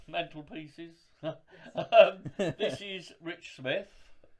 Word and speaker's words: Smyth: This is Rich Smith, spelled SMYTH, because I wrongly called you Smythe at the beginning.